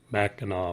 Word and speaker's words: Mackinac: it's and michela mackinac even the fort is pronounced the same way and it has a c so yeah it's always